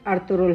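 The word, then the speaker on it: Ertuğrul: کی بہت اہمیت ہے۔ اس نام کا صحیح تلفظ ارطغرل ہے۔ ارطغرل ترکی زبان کا لفظ ہے۔ ترکی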